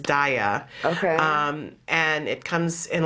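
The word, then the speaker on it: Daiya: And there's a new kind of cheese that's out that I believe the correct pronunciation for it is Daya.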